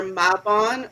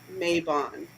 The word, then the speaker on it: Mabon: It's either mabon or mayabon. And it can be either way, I think, just depending on accent.